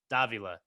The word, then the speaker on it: Davila: And for the record, so everyone knows, I said it wrong the first time that I asked him how to say it. I totally got it wrong, but he instructed me on how to do it. Davila. So that's how you say it, everybody.